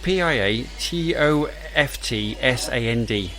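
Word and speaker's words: Piatoftsand: harlequin and it's by pierre soft no pierre toft sand i think that's how you say it p-i-a-t-o-f-t-s-a-n-d pia toft sand like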